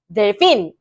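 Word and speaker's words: delfín: 그래서이 단어는 원래 어떻게 읽으셔야 되냐면요. 델핀. 같이 델핀. 델핀. 어색하죠? 어 같이 델핀. 델핀. 델핀 하시면 안 돼요. 그거는 잘못된 발음이에요. 델핀.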